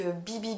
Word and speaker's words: BYBI: Il s'agit de la marque BB Beauty, donc ça s'écrit BYBI Beauty.